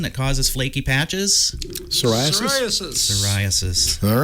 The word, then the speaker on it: psoriasis: Psoriasis.